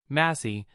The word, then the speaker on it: Massie: Massie, pronounced Macy, the god of death, reincarnation of Misa Amain.